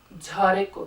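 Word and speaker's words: झारेको: So you hear, the way I pronounce it, you really hear the aspiration, jhareko.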